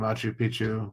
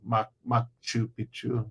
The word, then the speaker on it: Machu Picchu: nowhere between Ollantaytambo and Machu Picchu. Machu Picchu. Sorry, I got to pronounce it correctly because if you say it wrong, it means something completely different.